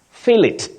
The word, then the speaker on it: fillet: Fillet. Fillet. Don't say fillet. I want some fillet. No. You say fillet, and you can also say fillet. Fillet without pronouncing the T.